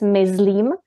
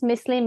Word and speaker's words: myslím: you are a beginner, you automatically, I think, pronounce it as myslím, because this is how you do it in German. But if you hear it first many times, myslím, myslím, myslím, it gets in your brain, in